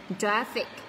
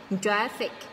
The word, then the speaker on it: traffic: Hai âm tiết này mình nhấn vào âm tiết số 1 này. Traffic. Traffic.